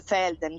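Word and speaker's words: Velden: Felden è la capitale, che poi in realtà in tedesco si dice Felden perché la V si pronuncia F, come Villach non è Villach, esatto.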